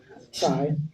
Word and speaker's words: CHAI: I work as a senior analyst with the Clinton Health Access Initiative, CHAI, and that's how it's pronounced.